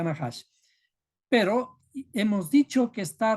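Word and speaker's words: נחש: Nahash, se pronuncia Nahash.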